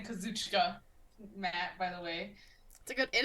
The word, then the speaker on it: Kazuchika: And then Matt said, "I'm tired of the Jonah Katsukuchi discourse." You know. That's a good way of saying Kazuchika, Matt, by the way.